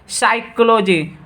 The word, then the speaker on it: psychology: फिर आप लोग ये कॉमन चीज़ आप लोग देखते होंगे, साइकोलॉजी, जैसे PSYCHOLOGY, तो यहाँ देखिए पी क्या हो गया, हाइड हो गया, यानी साइलेंट हो गया, पी का उच्चारण नहीं होता है।